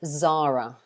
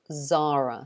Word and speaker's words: Zara: guys say it but we say zara zara so we say z and a long r sound zara zara that's how